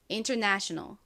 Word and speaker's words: international: 여기 제일 큰 강세는요. 이 네 부분에 있어요. 여기 강조해주세요. international.